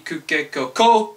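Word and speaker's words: こ: Co C Co C co co co co Coco Coco like cocoa beans I don't know whatever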